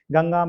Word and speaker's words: गंगा: गंगा में अनुस्वार का उच्चारण करने पर गंगा इंगा इंगा की आवाज निकल रही है।